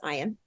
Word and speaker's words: Ian: Ian, which Other people might pronounce it Ian, but it's Ian.